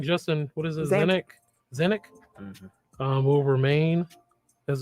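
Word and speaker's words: Zanik: Zanuck.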